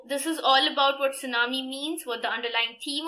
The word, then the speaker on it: tsunami: Tsunami has the spelling of T-S-U-N-A-M-I, but it's pronounced as tsunami. T is silent.